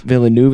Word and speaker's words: Villeneuve: Villeneuve is how you say the last name.